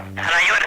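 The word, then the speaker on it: Alaior: Alayor, efectivamente. Bien, pues se pronuncia correctamente Alayor, ¿no? Alayor. Esto es Menorca. Con I latina.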